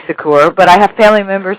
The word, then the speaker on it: Secours: relatives or not it's the SS silent if you say it in the purely French with the French accent I say Sakura but I have family members it's a sucker's so you were right